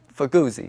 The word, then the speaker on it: Fuguzzi: How do you say it? Fuguzzi. The Fuguzzi. Yeah. The Fuguzzi. Fuguzzi. That's good. He said a little Italian.